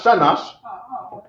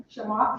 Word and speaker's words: Shamash: No, not Shanash. Shamash. Shah, what? Shamash.